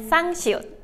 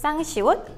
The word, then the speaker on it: 쌍시옷: However, you need to make the S sound stronger. You can do this by pushing more air out of your mouth when you say it. Some words that start with 쌍시옷 are 쌀 and 씨.